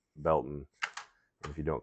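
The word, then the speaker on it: Baileyton: where we live is a town that is spelled Bailey. B A I L E Y T O N. But the local calls it the locals call it Belton.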